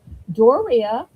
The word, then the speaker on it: Doria: And one of the ways she taught me how to say her name was she said that it rhymes with Korea. Doria, Korea.